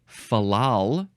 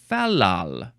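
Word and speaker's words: fal-lal: Next word is fallal, or fallal. Fallal. You can emphasize either syllable. It's fine.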